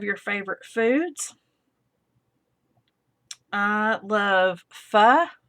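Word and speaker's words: phở: I love pho. It's spelled PHO, pho.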